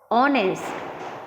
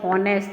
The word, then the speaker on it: honest: Our, honest, honorable. We cannot say honorable, honest and hour. Obviously H is silent in these words.